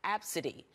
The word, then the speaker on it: ABCDE: my daughter well her daughter's name is filled ABCDE and pronounced Absa D this story has generated